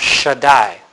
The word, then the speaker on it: Shaddai: be your s sound if you have a DOT between the second and third it would be sh like an sh sound okay the Hebrew letter